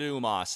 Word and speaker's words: U-Mos: here first of all UMAS himself yes I'm pronouncing it UMAS if you want to pronounce it some other way well that's your prerogative luminoth UMAS indigenous sentient